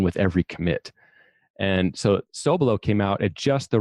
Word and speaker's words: Sobelow: a little background on my personal experience was so below so it's spelled sob e ello W in case someone's